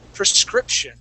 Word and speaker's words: prescription: The word is prescription. Okay. Now, Okay. class, in most cases, that beginning we do say pre. Okay. Preschool. Okay. Anyway, but in this situation, we would pronounce that more of a prescription.